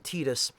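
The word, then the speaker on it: Tidus: pronounced it tetus because that's how you would pronounce it the way it's written in uh Katakana you would pronounce it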